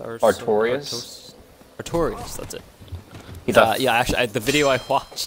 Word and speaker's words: Artorias: I know I'm gonna pronounce it wrong, but there's the knight like Artesia or Artorias. Artorias, that's it.